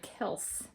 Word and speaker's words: Kelse: I was like, maybe that's for my Josh, my Leon, and my Kelse pronounced like Kelp, who's Kelse was born 1987.